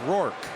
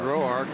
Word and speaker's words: Roark: We've been told since he got to the big leagues that he pronounces it Roark.